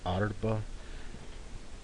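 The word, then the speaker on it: ארבע: It's supposed to be Alef, Alef, Resh, a Bet, and then the Ayin. So you've got both the silent letters in this.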